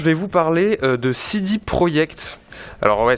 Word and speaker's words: Projekt: Je vais vous parler de CD Projekt. Alors ouais, ça s'écrit Project, ça se prononce Projekt.